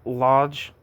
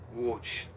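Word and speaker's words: Łódź: He was born in lodge and died in Warsaw. How do you say this city? Watch. Watch. Watch.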